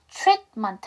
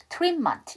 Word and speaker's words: treatment: 그 다음에 이 T 사운드는 받침으로 넣어주세요. 그래서 treatment 하시던가 아예 T 사운드를 안 하셔도 돼요. 뒤에가 그 자음이니까 treatment 이렇게 하셔도 됩니다.